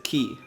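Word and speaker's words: χ: Allora, abbiamo finito di vedere Kingdom Hearts Key Backover. Vi confermo che quella sottospecie di X si legge Key.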